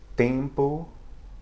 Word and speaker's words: tempo: At the end of a syllable or at the end of a word, where you'll sometimes see it, it has the function of nasalizing the preceding vowel without really being pronounced itself.